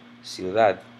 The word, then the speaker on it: ciudad: Or this one ends in another letter other than a vowel in or S. I know that the stress is on the last syllable, ciudad.